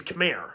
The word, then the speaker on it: Khmer: And since there was an R at the end of the word, they pronounced it as Khmer.